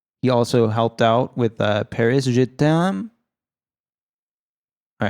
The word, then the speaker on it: Paris, je t'aime: But no, we both said it horribly wrong. It should be a phrase we know. It's a phrase you could say to your woman, your lover. You could be like, je t'aime, je t'aime. It means love. It means I love you. Oh, yeah, I know. I know that. But how do you say it? Paris, I love you. Paris, je t'aime.